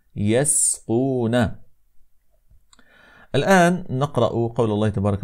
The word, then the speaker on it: يسقون: المهم في هذا هو ان ننتبه الى حرف السين كي لا تتاثر بحرف القاف فلا نقول يسقون هكذا انما نقول يسقون الان نقرا قول الله